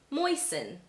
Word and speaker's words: moisten: right for you to assume that the T is silent. Let me give you some examples. Glisten, fasten, christen, moisten.